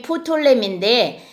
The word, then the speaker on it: 프톨레미: 남방왕이 이제 원래 이름이 푸톨렘인데 우리 역사에서 그냥 톨렘이라고 해요. 왜냐면 푸가 묵음인가 봐요. 그래가지고 푸가 묵음이어서 그냥 톨레미 왕조 이렇게 합니다. 그러니까 푸톨렘이라고 해도 괜찮고 톨렘이라고 해도 괜찮은데 어쨌든 남방왕이 톨레미 왕조